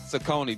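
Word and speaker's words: Cecconi: Sakone.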